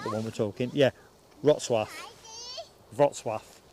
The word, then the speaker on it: Wrocław: Wrocław. Wrocław. It's not pronounced how it reads.